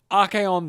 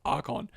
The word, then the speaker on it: Archaon: Meanwhile, Archaon the Everchosen, a guy whose name I correctly pronounced this time instead of Archon.